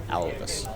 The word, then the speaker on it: Alvis: Alvis. Yeah. Like Alvis, like Alvin and the Chipmunk? Yes, like Alvis, like Alvin the Palvin, you know?